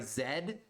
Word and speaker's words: Z: Sorry, Zed.